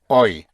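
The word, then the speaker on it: hoy: You remember today is oi.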